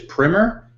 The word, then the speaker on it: Primer: So the movie, if you've seen it, you probably know it as Primer, although I hear the official pronunciation is Primer, and there's probably some UK versus US English language pronunciation shenanigans going on.